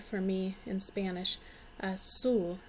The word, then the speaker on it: azul: Azul. The Z isn't quite as strong of a Z sound for me in Spanish. Azul sounds a little bit closer to a hard S sound.